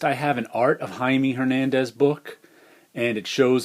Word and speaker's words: Jaime: one and here's a jaime hernandez there's a signature down there and he's Jaime not Jamie in case you didn't know that goes to the Spanish pronunciation and I just love